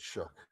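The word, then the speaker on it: Shough: I don't know why they pronounce it Shook. It's Tyler Shaw to me.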